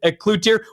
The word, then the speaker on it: Cloutier: David Cloutier and as a Canadian this is a very difficult thing for me to say. Uh we we always want to pronounce it in French.